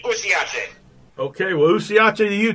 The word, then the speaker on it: usiache: And the word for don't give up is pronounced usiache. And that is something that keeps me going all the time. Usiache. It's like U-S-I-A-C-H-E. Yeah, usiache in Swahili.